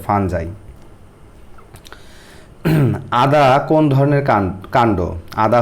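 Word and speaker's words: fungi: ছাতা ছত্রাক বা ফাঞ্জাই বা অনেকে যে যেটা বলেন এটা হচ্ছে উচ্চারণটা এই যে ফাঞ্জাই আদা কোন ধরনের কান্ড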